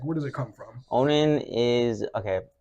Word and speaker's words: Onin: Onin is okay. It's actually pronounced Onin, right?